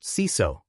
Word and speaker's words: CISO: Job titles include GRC Analyst, Risk Analyst, Compliance Analyst, Security Auditor, and, at the senior level, Chief Information Security Officer, or CISO, pronounced CISO.